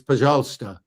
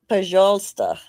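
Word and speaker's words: пожалуйста: If it's the word, I think it's Pajalsta. Pajalsta.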